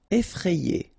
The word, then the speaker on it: effrayé: Final T not pronounced. Free. Amical. Effrayé.